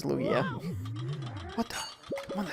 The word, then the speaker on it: Lugia: Oh, I said Luigi, but you actually did spell that correctly. That is Lugia.